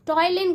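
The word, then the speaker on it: ptyalin: टॉयलिन कहते हैं, क्या कहते हैं, टॉयलिन कहते हैं। पी यहाँ पे साइलेंट है, प्रोनाउंसिएशन पे ध्यान दें।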